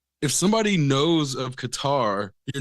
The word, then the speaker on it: Qatar: whole way if you if you've been pronouncing it Qatar and then you hear somebody that you know isn't not an idiot say cutter instead of like questioning like oh I think they're pronouncing it wrong you're G to start